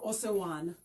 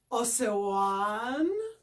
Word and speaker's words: Osewan: Osewan. And this is how you pronounce it. O-se-wan.